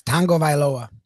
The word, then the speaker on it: Tagovailoa: of shocked us because there is no uh n i mean there's no g in there right no and uh you know he pronounced it like tangaveloa it's tango vailoa yeah so like some names have silent letters but this one has an invisible letter there's an invisible visible